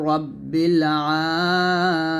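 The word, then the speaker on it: رَبِّ: রাসুলুল্লাহ ইমামুল মুত্তাকিনা রাসুলু রাব্বিল আলামিন রাসুলু রাব্বিল রাব্বিল বলবেন না রাব্বিল রাসুলু রাব্বিল এখানে রাব্বিল আছে যদি তবে রব্বিল বলতে হবে রাসুলু রাব্বিল আলামিন আবার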